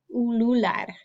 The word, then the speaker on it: ulular: Okay, so the word is ulular, ulular, ulular, ulular. Think about what makes the oo sound in Spanish.